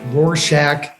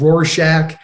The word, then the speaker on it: Rorschach: Right now, I'm in a place called Rorschach, Switzerland, which I pronounced very wrong. It's called Rorschach.